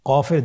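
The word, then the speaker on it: ق: কফ উচ্চারণের ক্ষেত্রে একটু মোটা করে উচ্চারণ করতে হবে।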